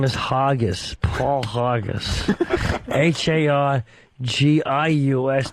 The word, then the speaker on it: Hargius: Yeah, my last name is Hargis. Paul Hargis. Hargius. The U is silent. Hargis.